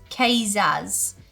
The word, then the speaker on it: Kvass: The typical Russian soft drink is pronounced Kazaz.